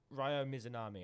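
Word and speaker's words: Ryo Mizunami: start before you start um hikaru shida versus rayo mizunami i believe that's how you pronounce it again yes well done well done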